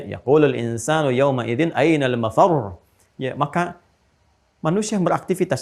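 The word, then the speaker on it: مفرّ: insanu yawma idzin ainal mafar. Mafar ada tasdidnya tuh. Ya, ainal mafar. Ada tasdidnya. Makanya bacanya juga bukan mafar. Awas. Ya, bukan mafar.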